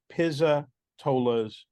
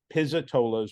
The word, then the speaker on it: Pizzatola's: it so that way people know sure the pronunciation is Pisa tolas so we have pizzitola's written on the outside